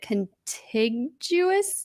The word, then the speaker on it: contiguous: to say is it contiguous United States there you go am I pronouncing that correctly down here in the contiguous nut yeah so I think some people maybe use a hard G okay so uh Geo